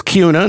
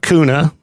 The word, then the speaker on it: Kuna: B U H L Kuna It is Kuna, not Coona.